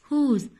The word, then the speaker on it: whose: W H O S E. Whose. Whose. W is silent.